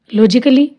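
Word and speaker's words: logically: लॉजिकली, ऐसी लॉजिक कै या कली करके नहीं, लॉजिकली।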